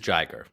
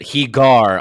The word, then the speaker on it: Jiger: uh gamra versus uh jiger is that how I say it I want to be care I think so yes it is jiger good uh I pronounced it hegar a couple of times that's that's the cool